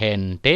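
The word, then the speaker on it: gente: foto-foto hai felicidad Hai sedangkan G diucapkan g&g bisa diucapkan h Hai contoh Hai Hente hai hirar hai heneral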